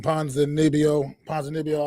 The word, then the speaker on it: Ponzinibbio: Still, I'm probably gonna pronounce his name wrong. Ponzinibbio, I believe is how he pronounces it.